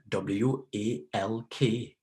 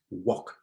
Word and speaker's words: walk: walk and that rather w a l k is pronounced as walk just like talk we say Talk t